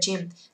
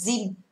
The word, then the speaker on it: gym: or go to the gym. Từ này không đọc là gym mà đọc là gym. Go the gym, tức là cái âm y này là âm y ngắn thôi.